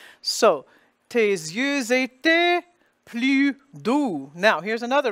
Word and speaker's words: doux: So, tes yeux étaient plus doux. Now, here's another letter spelling. D-O-U-X. The X is silent. The O-U spelling equals the sound OU.